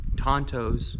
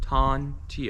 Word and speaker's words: tanto: I think that they're called tantos. Tonto o, but it's tanto, I think. I don't know how you pronounce it. Um, but it's t a n t o. Tanto, I guess.